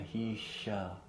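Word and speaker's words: महिष: Mahisha. The S that looks like a backwards P with a line through it. Okay. Mahisha.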